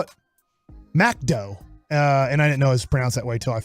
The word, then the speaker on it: McDo: in France it's not called McDonald's okay mcdo pronounced macdo macdo so when you saw that on there and